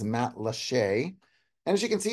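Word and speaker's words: Matlacha: Le Isles Matt lcha for those of you that have trouble with that pronounciation is Matt leche and as you can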